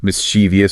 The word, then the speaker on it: mischievous: Mischievous stress and pronunciation.